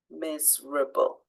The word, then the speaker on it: miserable: out loud abandoned okay so miserable which letter is not stressed miserable so for that one we're looking at the E because we don't say Miss miserable we just say miserable so you need to be aware that there's an e there and not forget about it when you're spelling when